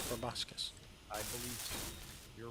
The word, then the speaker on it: proboscis: But I'm pretty sure it's proboscis. I believe so. You're right. I've always heard it pronounced proboscis.